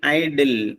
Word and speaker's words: idle: Option D ഐഡിൽ, IDLE. നോക്കാം, IDLE, ഐഡിൽ എന്നാണ് ഉച്ചാരണം. ഇതുപോലെ തന്നെ നമുക്ക് തെറ്റിദ്ധരിക്കാവുന്ന ഒരു വേർഡാണ് IDEAL, IDEAL. അത് തമ്മിൽ വളരെ വ്യത്യാസമുണ്ട്.